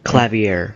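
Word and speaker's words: Klavier: Clavier, that's how you pronounce it.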